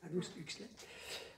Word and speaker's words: Aldous Huxley: On pourrait, pour ceux qui connaissent l'auteur, j'arrive jamais à dire son nom, Aldous Huxley, c'est comme ça que ça se prononce? Non, c'est comme ça que ça se prononce, Aldous Huxley.